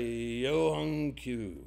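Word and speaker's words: Younghoe Koo: And you got a Yohung Koo.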